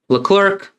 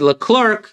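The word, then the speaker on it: Leclerc: Shoeacher and L. Clerk. There you go. F2 auto. It's just clear. C is silent.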